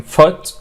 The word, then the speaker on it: foot: So في O double O words ولكن pronounced اللي هو زي food لكن foot. Alright, it's short vowel which is foot, good, look, book, swoosh and swoosh and stood.